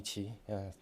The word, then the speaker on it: Qi: pronounce Chinese people's name my name is in Chinese is Joi so you can call me Chi my personal name it's